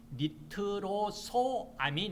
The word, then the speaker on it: 니트로소아민: 하면은 니트로 3인 그랬는데 정에는 니트로사민이 아니고요 니트로소아민 있니다 자 스펠을 쓴다면 니트로